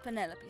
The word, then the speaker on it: Penelope: Officially, yes, but I never can be bothered with all four syllables of it. Penelope sounds a little ostentatious coming out of the mouth, don't you think?